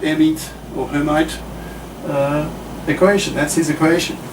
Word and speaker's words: Hermite: and i speak french air meet right the the if you're gonna pronounce it in the french way uh the h is silent the er is a sort of an air like hot air very appropriate for the